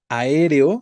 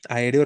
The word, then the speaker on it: aéreo: En la cuarta columna, aéreo, efectivamente, aéreo, recuerden que tiene cuatro sílabas, es palabra esdrújula, a, e, re, o, ¿no?